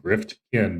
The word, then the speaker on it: Gryftkin: It's phonetic Gryftkin, but I've stumbled over that word times my own.